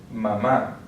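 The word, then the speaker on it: mamá: We have the accent, the written accent on the last syllable, so that's where we're going to stress mama.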